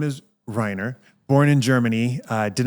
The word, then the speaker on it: Rainer: And so my kindergarten teacher renamed me because she couldn't pronounce my name because my name is actually pronounced Rhina.